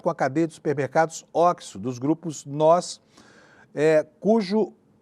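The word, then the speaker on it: OXXO: essa rede, chama e eles tem até uma plaquinha na fachada assim, pronuncia-se oxo. Oxo é uma rede varegista, tá em todos os bairros de São Paulo.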